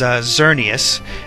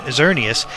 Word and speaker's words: Xerneas: X, the one that represents Pokemon X, is Xerneas, and the flying one that represents the Y version is Yveltal. I think I'm pronouncing that right, Yveltal.